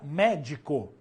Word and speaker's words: médico: as proparoxítonas são acentuadas exemplo a palavra médico médico acentua médico porque aqui ó é a penúltima ou antepenúltima sílaba mais forte sendo assim proparoxítona toda proparoxítona é acentuada Maravilha tranquilo até que